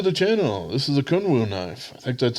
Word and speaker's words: Kunwu: and welcome to the channel this is a kunwoo knife in fact that's how you pronounce the uh the company name this is